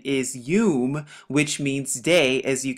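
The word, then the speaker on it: יוֹם: h3117 and the word here that's used they pronounce it yam but the correct pronunciation is um which means day as you can see right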